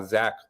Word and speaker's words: Zech: Well, my full name is pronounced Zechariah, but I've been going by Zach my whole life just to make it easier on people.